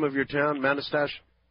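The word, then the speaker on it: Manastash: How do you pronounce the name of your town? Manastache. Oh. Oh, Manastache. Manaste.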